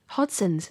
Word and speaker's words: Hodgson's: of company culture that failing to emit the g in the pronunciation of the beer's name hodgson's had the effect of